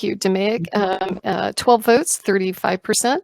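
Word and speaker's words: DMAIC: um yeah and d how do you pronounce the second one you say d'amic thank you demig um uh 12 votes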